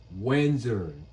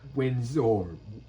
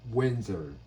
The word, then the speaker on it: Windsor: Windsor, not Windsor. Windsor.